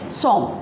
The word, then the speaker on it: sommes: Along with nous, we always use S-O-M-M-E-S, som, and the pronunciation is som, that is nous sommes.